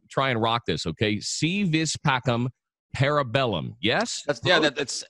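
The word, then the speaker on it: Si Vis Pacem, Para Bellum: as a i'm sorry the v is is pronounced with a w but you're interested man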